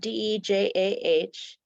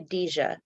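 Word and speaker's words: Dejah: name it is spelled d-e-j-a-h and it's got a long e so it's I like to say it's like Dijon mustard so you say dija instead of a lot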